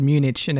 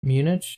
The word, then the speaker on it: Munich: for you can say something uh-oh you said munition and it stuck in my craw bit munich munich munich munich IC H